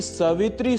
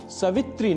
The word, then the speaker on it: सावित्री: अंत में ओम श्री सावित्री सूर्य नारायण नमः ओम श्री सावित्री सूर्य नारायण नमः यहां सवित्री नहीं सावित्री यह उच्चारण करना होता है।